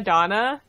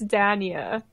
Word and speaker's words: Dania: thought that was Crema Donna, and I thought it was a pun. You're being such a Crema Donna right now, Zamagram. I thought it was really clever, but it's Dania, and it just makes me so sad.